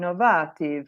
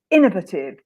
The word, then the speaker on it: innovative: say that word but Innovative so the stress is on the if and because she's Italian it would be like in inovative or Innovative or something like that and so Innovative yeah so she found